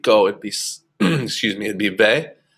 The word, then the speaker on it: ve: it'd be it'd be ve, ve. Remember that v is pronounced more like a b.